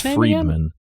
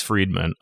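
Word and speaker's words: Fridman: I believe it's pronounced Friedman.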